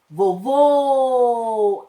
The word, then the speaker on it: vovô: E aquela que tem o som fechado, vovô, acento circunflexo.